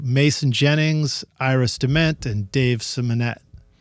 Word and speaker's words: Simonett: Jennings, Dement, and Dave Simonett. Or Simonett is probably how it's pronounced. Simonett. Right? Simonett. Oh, I had it right the first time.